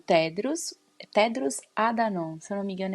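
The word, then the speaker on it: Tedros Adhanom: O Tedros, Tedros Adanon, se eu não me engano, é assim que se pronuncia o nome dele.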